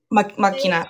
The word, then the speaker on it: deus ex machina: correct me but one of them was um deus ex machina did I pronounce that right makina okay perfect um can you talk a little